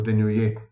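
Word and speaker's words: Denollet: These were studies conducted by the Belgian medical psychologist Johan Denoyer, or Denoyer, actually, to pronounce it correctly.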